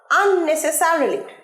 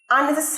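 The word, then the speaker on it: unnecessarily: আননেসেসারিলি হোয়াই ডু you quarrel with him আননেসেসারিলি উচ্চারণটা ঠিক করো আননেসেসারিলি আননেসে নয় আননেসেসারিলি আননেসেসারিলি হোয়াই ডু you coral with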